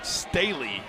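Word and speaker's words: Sthele: Travis Staley will bat now. Spelled S-T-H-E-L-E, but pronounced Staley.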